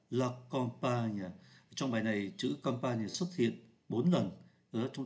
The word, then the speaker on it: campagne: là ký tự N viết là em mà phát âm như là n là comp và bài